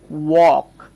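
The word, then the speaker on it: walk: যদি এই প্যাটার্ন মেনে কোন ওয়ার্ড গঠিত হয় তাহলেও কিন্তু এই এর উচ্চারণ অ এর মত করতে হয়। মানে এখানে যদিও এর লেটারটা সাইলেন্ট হয়ে যায়। মনে রাখতে হবে এর লেটারটা সাইলেন্ট হয়ে যায়। এজন্য আমরা এখানে এই লেটারকে অ এর মত উচ্চারণ করি।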